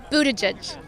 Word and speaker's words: Buttigieg: so we've asked everybody this how do you pronounce maror Pete's last name Budaj you say that very confidently how how do